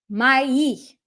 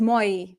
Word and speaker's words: мои: Моя, моё, мои. A lot of times English speakers will say this word as мои. Nope. Мои.